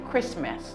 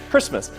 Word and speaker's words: Christmas: say Christian Chris but the t is not pronounced say Christmas and I was visiting my parents for Christmas Christmas Christmas listen often Christmas